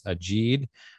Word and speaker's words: Ajid: Before we move forward, I want to correct the pronunciation that I asked about earlier. It is Ajid, and I hope I'm saying it correctly now.